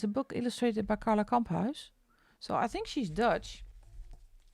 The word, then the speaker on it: Kamphuis: This is a book illustrated by Carla Kamphuis. So I think she's Dutch. Or you pronounce this as Kamphuis. But that's a Dutch last name.